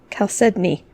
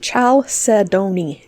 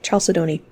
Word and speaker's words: chalcedony: whoops not coda says i've been saying al said me calced me yeah that's not how that's pronounced chalcedony chalcedony um various oftentimes organic